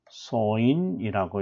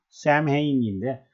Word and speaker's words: Samhain: 자, 그래서 할로윈 데이의 기원은, 자, 할로윈 데이의 기원은 2000년 전, 켈트족 소인이라고 이렇게 발음을 하거든요. 샘헤인인데, 소인이라고 말합니다.